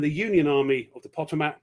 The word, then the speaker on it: Potomac: Lee, and the Union Army of the Potomac. How do you pronounce that? Potomac, isn't it? Potomac. Yeah.